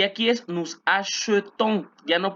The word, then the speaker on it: achetons: Y aquí es nous achetons. Ya no pronunció la E, sino E.